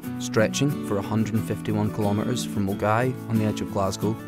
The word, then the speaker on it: Milngavie: Pronounced Milngavie, not Milngavie as you might think, it's probably best known